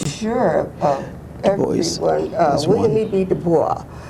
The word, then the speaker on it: Du Bois: Du Bois, if you pronounce it the French way. Most people say Du Bois, but he had a French pronunciation.